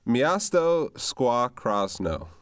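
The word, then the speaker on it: Miasto Szkła Krosno: And to save me a mispronunciation, what is the name of your team? Yeah, it's Miasto Squaw Krasno.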